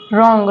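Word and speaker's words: wrong: वो साइलेंट है next word है रंग रंग में जो डब्लू है वो साइलेंट है उम्मीद है आप सब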